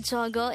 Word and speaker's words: 저거: hangover word number 185 this is pronounced as a two-syllable word the first syllable is so the second syllable is go pronounce it with me the korean word zogo is used to say